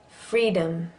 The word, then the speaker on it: freedom: Freedom. And the O in freedom is a schwa.